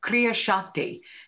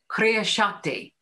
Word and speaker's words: kriya shakti: in the teachings of theosophy this is called kriya shakti kriya shakti it's spelled k-r-i-y-a-s-a-k-t-i it's written about in the secret